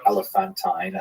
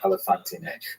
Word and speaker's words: Elephantine: the town elepant now I always pronounce that by the way elephanttine until I look a little more carefully and I think it's supposed to be pronounced elephantine maybe someone in the comments will correct me if I get that wrong this is known as